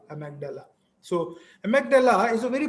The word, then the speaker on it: amygdala: You can pronounce it as amygdala, amygdala.